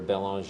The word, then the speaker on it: Belanger: looking up my name Belanger belong is how it's pronounced b l n g